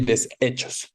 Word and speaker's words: deshechos: Pero hay personas que sí pronuncian una diferenciación, desechos y deshechos, ¿no?